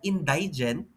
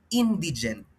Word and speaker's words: indigent: By the way it's not indigent it should be indigent no so please be careful and of course observe proper pronunciation okay again ha ang ah ang in hindi po siya in indigent but rather indigent okay pakinggan niyo to